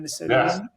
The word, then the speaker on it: Minnesotan: Minnesotan?